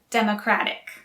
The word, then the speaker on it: democratic: related democracy democrat and democratic again the stress is on the first syllable for democrat and democratic but the stress is on a second syllable for democracy in the u.s there